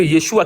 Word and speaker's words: Yeshua: Ça fait que Yeshua qui correspond à Josué, la lettre finale, elle est prononcée et pour être le plus fidèle possible au mot.